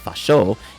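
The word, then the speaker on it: ファッショ: on his observation that the Japanese manner of pronouncing fascism fasho is nearly the same as the word fashin fashon if this is true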